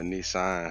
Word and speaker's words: Nisan: Um, the um, the final Shabbat for the month of Abib by Nisan, how they say it. Not like the car.